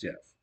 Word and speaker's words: Gef: his name like Jeff gef but says it's pronounced Jeff but I'm gonna call him Jeff to talk to Mongoose this was in 1931.